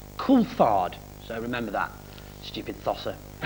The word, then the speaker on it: Coulthard: And David Coulthard, of course, insists on having his name pronounced Coulthard.